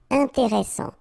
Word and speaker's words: intéressant: Intéressant. Final T not pronounced.